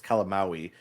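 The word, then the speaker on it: Calamawy: It's like calamari, but it's calamaui.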